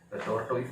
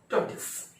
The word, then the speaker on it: tortoise: तो ये जो शब्द अभी देखे हैं, टॉर्टोइस नहीं बोलेंगे आज के बाद, उसको बोलेंगे टॉर्टिस।